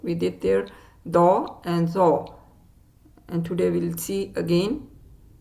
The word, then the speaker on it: ظ: Today's letter is often mistakenly pronounced at daw. Or zaw. The correct sound is a heavy version of zaw, zaw.